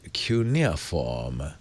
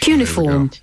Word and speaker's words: cuneiform: In English we say Cuneiform. No, that's wrong, too. Cuneiform. You know what? Who the hell knows this English dictionary's Cuneiform. That's wrong all round.